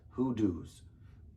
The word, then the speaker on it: hoodoos: All right, the park, and I had to Google how to say this, hoodoos.